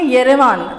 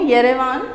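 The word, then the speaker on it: Yerevan: ध्यान देंगे येरेवान, मैं ठीक से एक बार फिर से प्रोनाउंशिएट कर रही हूँ, येरेवान।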